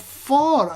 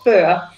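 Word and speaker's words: Föhr: the north of germany am i saying it right uh not quite but that's fine it's called fur but you don't have that later in english so it's right oh my god i've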